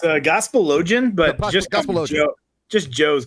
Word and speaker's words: Gospelogian: It's a Gospelogian, but just Gospelogian.